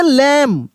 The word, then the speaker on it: lamb: देखिए LAMB, यहाँ पे बी साइलेंट रहेगा, बी साइलेंट रहेगा। भले यहाँ पे देखिए डी लिखा है, लेकिन डी और बी दोनों साइलेंट इसमें मिलेगा आपको, ठीक ना। जैसे लैम, क्या पढ़ेंगे? लैम, लैम, लैम पढ़ेंगे, लैम।